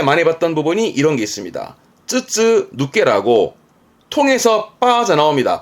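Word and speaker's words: 筒抜け: 통을 시험 때 많이 봤던 부분이 이런게 있습니다 쯔쯔 누께라고 통해서 빠져나옵니다 발음은 빠져나온 거니까 머리미 할 것 같아요 통해서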